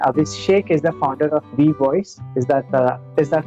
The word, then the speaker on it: WeVOIS: So anybody who is listening this conversation, Abhishek is the founder of V Voice. Is that how you pronounce it?